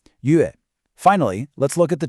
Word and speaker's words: 乐: It's not a like in play. It's a short e sound, like in the word get. 乐.